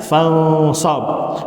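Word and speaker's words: فَانْصَبْ: contohnya Faid faragta fansab ada alifnya ada tapi jangan dibaca Bacanya fansab wadkhuli jannati jangan dibaca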